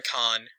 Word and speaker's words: Cannes: This one did not premiere in Cannes. This one premiered in Cannes. I'm not sure if it's Cannes or Cannes. French again. C-A-N-N-E-S. The E-S is silent.